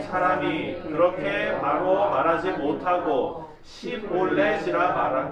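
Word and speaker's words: שיבולת: 쉿볼렛이 쉿볼리가 아니라 쉿볼렛 아시죠? 맛있는 거 그거. 그 발음하기 쉽지 않잖아요.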